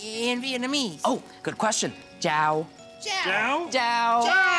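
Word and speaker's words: chào: Jiao.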